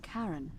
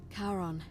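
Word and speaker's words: Charon: it's just as you described it only your pronunciation is a little off the name you heard wasn't karen it was kieran c h a r o n as in caron the ferryman of the dead karon who in exchange for the right coin helps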